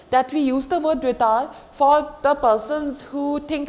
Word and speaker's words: retard: Don't pronounce the D. Retard.